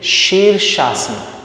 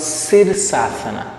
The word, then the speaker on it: Shirshasana: in asana series so when we say sheer shasta it is not sir okay never pronounce sir it is sure when the tongue the side of the tongue touches the upper palate when you make a sound of shh there are three types